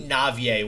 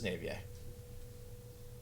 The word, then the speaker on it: Naivye: going to go nut i think navier was the generally accepted way to pronounce this name so if anybody knows